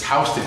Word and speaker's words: Houston: How do you pronounce that? Wrong. House. It's Houston Street. That's a New Yorker. It's Houston Street. The tourist said to me, "No, it's Houston."